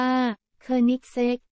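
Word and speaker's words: Koenigsegg: ประเทศ ไทย กับ ไฮเปอร์คา เครื่อง หมาย สี่ เหลี่ยม โคเอนิกส์ อ่าน ว่า เธอ เน็กเซ็ก จาก สวีเดน หาย ใจ ไม่ ค่อย ทั่ว ท้อง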